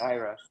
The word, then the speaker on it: Ira: I'm so bad at pronouncing names, and I'm used to people calling me Ira and Ira. By the way, it's Ira.